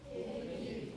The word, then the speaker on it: kitty: Oh, don't put the stress on the second syllable. Keep the stress on the first syllable. Again, the second one. Kitty.